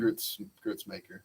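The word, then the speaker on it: Gruetzemacher: So and he lost 3 fights before that to Chris Grudemaker, whatever the fuck you say his name. Grützmaker.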